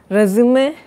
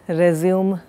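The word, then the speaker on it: résumé: Remember, it comes with an accent. We pronounce it as resume and even write it. Of course, now it is an acceptable form to write it and pronounce it as resume, which is not very accurate.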